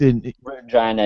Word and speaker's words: Regina: So, you know, it reads Regina to me, and I knew it was Regina.